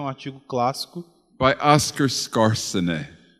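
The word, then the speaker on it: Skarsaune: artigo clássico, by Oscar Scarsene. o Oscar Scarsene. Remember that one? Lembra We desse? try to say it like Norwegian, just like he says it.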